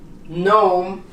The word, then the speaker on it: gnome: Because, for instance, when this word starts with GN, as in gnome or gnat, you don't pronounce the G.